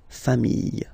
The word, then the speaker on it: familles: the plural form, les familles, okay? Remember, chien, singular form, chien, same pronunciation, but you put this S, okay? Final S, not pronounced. Famille, singular form. Famille, plural form. Same pronunciation, S, not pronounced, okay?